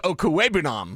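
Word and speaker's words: Okwuegbunam: been the toughest one we've ever had to pronounce. Well. And it was Okuebunam. It was tough until someone just said, this is how you freaking say it. Yeah, Drew Lock did. Yeah. Drew Lock said Okuebunam.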